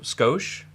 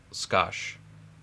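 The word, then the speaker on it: 少し: you said you know sco yeah just a sco uh that's actually a a Japanese word and it's actually pronounced scash or scash yeah but it it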